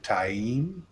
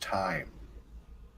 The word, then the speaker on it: Taim: I am it's called taim and if you're from tier which is down to the south and you know that st. pronounce our spelling it's pronounced time so there's very different